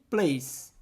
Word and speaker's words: place: que significa lugar e da mesma forma como Case a gente não vai pronunciar o e simplesmente Place Que lugar lindo What